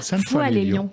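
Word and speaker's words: Sainte-Foy-lès-Lyon: vous êtes né le 28 mars 1960 à sainte foy les lyon si les fouilles les lions pour toi sauf foy les lyon comme ça que ça se prononce dans la région rhône alpes avant de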